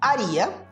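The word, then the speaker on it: haría: A letra H, como nós vimos anteriormente, ela não é pronunciada, né? Então a pronúncia dessa palavra fica haria.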